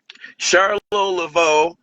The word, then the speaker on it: Charlot Laveau: Um, Charlotte LaVeau. Your name is pronounced like that, right?